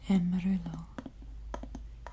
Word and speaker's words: amarillo: You say amarillo.